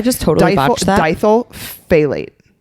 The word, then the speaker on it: phthalate: So the stuff that makes plastic products flexible is diethyl pithenate. You guys, some of these words are really hard to say. I just totally botched that. Diethyl phthalate. I think the P is silent.